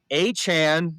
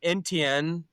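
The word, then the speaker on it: Etienne: And then the Saints got Travis Achan, not Enten. He did correct all of us about that. So, I'm going to say his name properly.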